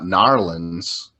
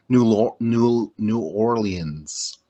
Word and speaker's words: New Orleans: Because I heard it's not Narlands, it's more like New Orleans.